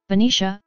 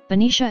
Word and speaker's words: Benicia: Benicia, California. Benicia, /Bni/Bnish, BNISH, Spanish pronunciation, is a waterside city in Solano County,